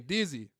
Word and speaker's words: Dezi: But I was always saying Dezi. So I'm like, man, I got to change this shit, man, because I keep saying it one way, but it's spelled another. Yeah.